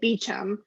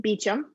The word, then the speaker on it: Beauchamp: rebecca they pronounce it beechum um she spells it like beauchamp but they pronounce it beecham and it totally threw